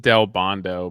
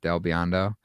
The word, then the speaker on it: Del Biondo: from uh Rob uh I always pronounce his last name wrong and I should I shouldn't because I've talked like it's just Del Bondo but El Bondo Del Biondo um and he's gonna listen to